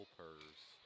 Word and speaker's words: Elpers: You gotta say it like Eeyore. Yeah. Yeah. It's like helpers, but without the H.